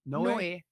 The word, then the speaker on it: Noe: Noe. Noe. Because we didn't have the little accent. I looked. Just how it's spelled.